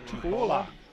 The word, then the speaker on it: Tupuola: How did they pronounce it? Tupuola. Tupuola. Tupuola. Tupuola, the common pronunciation of that.